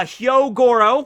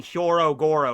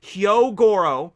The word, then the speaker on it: Hyogoro: them together here right uh hyogoro which i think i finally pronounced his name right i've gotten into the habit of just saying hyorogoro because i thought there was an extra o in there but hyogoro uh is 70 years